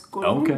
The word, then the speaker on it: Colunga: Technically, it's Spanish, so it's Colunga. Okay. Colunga. Yeah. That's a lot of fun. That's awesome. Very fun. Colunga. It actually sounds very tribal, like Colunga.